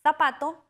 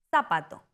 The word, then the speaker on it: zapato: En España la Z en zapato suena como parecido a la en think. En América Latina, la Z suena como s, zapato.